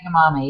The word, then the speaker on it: edamame: hormones my son loves Edam adame is that how you pronounce it edamame yes edamam should I limit